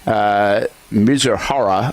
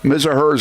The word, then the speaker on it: Mizuhara: The spokesman presented Mizuhara, is how you say it, I believe, to ESPN for a 90-minute interview Tuesday night, during which he laid out his account in great detail.